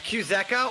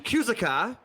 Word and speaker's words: Kuzeka: It's Kuzeka, or you can just call him Zeka. That's right. Yeah. All right, gotcha. Or if you want to say it wrong, you can call him Kuzaka, or was the worst I've heard it, and I'm not gonna call